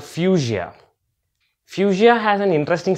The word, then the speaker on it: Fuchsia: this word out and in my mind I was reading it as fucsia and I was definitely sure that that's not the exact pronunciation so I meant to be keep it in it and I found out the exact pronunciation and it was fuchsia so before I start